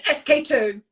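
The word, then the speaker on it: SK-II: Yes, SK2.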